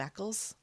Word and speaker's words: Eccles: How do I pronounce his name?" I started to get very paranoid. So you call him Eccles.